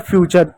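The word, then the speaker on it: future: टी का क्या पढ़ेंगे, च पढ़ेंगे, आर को क्या पढ़ेंगे, र पढ़ेंगे, हो जाएगा फ्यूचर। यू यहाँ पर साइलेंट होगा, टी यू आर में यू हमेशा साइलेंट होगा, इस बात को याद रखें, ई भी साइलेंट होगा, हो गया फ्यूचर।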